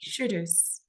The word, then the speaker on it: Shudus: Shudus. Yes, you are pronouncing it correctly.